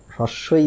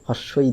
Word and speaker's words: হ্রস্ব ই: হ্রস্ব ই দীর্ঘ ই তাহলে এর উচ্চারণ কোন সময় হ্রস্বই দীর্ঘ ই হস্ই দীর্ঘ ই এরম কোন কিছু না এর উচ্চারণ হচ্ছে হ্রস্ব ই দীর্ঘ ই তাহলে এই যে কবিগুরুর